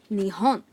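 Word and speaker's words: 日本: n is pronounced hon so put the two together Japan is me on nihon nihon so are you ready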